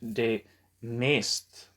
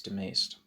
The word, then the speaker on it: de Maistre: I'm probably mispronouncing his name, but I think it's de Maistre.